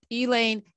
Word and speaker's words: Elaine: never heard of the elay massacre so tell us about the elaine massacre dr tisby elaine elaine spelled like a person's name that's right you know